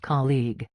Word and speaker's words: colleague: The first part sounds like ca and the second part sounds like league.